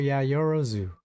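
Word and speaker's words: Yaoyorozu: Oh, it is Momo Yayorozu.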